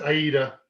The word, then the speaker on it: Aida: and a half in ada what did i pre what i pronounced your name did i pronounce your name correctly that's aida aida it's a great opera and a pretty good